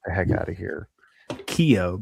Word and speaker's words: Keough: Keough, by the way, I think is how you pronounce that.